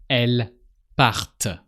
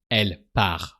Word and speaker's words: partent: So with plural pronouns, actually with they, you're going to pronounce the T. So how do you think you should say, the women are leaving? Elles partent. So you pronounce the T. Elles partent. And really don't forget to pronounce the T. Because if you don't pronounce the T, we just hear elle part. So if you don't pronounce the T, we hear she is leaving, not they.